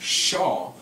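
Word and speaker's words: שָׁוְא: That word is Shua, or the Strong's Concordance says it's pronounced Shaw, Shinwal Aleph.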